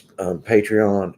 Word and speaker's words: Patreon: and it's it's patreon we pronounce it patron but it's patreon and it's okay Lindsay